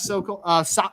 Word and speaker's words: Sokol: Going to bring on Josh Sokol. Sokol is how you pronounce it, right? Sokol?